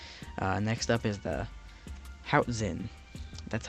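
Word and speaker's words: Hoatzin: these guys do uh next up is the how Zen that's how you pronounce this I'm going to put up the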